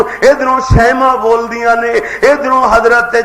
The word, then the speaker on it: شیما: اصل اندر عربی دا نام شیما، شین یہ میم الف ما اگے حمزہ شیما دا نام ہے عربی زبان اندر تلفظ الرحیق المختوم والے جناب مولانا صفی الرحمان مبارک پوری انہوں نے بھی ضبط تلفظ یہ ہوئی کیتا ہے شیما، لہذا صحیح تلفظ یہ شیما ہی ہے۔ میں عرض کر رہا